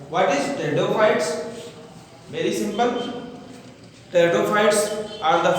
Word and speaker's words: pteridophytes: Here P silent you see. Some student by confusing this pronounce it just like a pteridophyte, but it is wrong. Not pteridophyte, it is pteridophytes. P silent here.